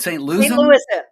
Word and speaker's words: St. Louisan: St. Louisan?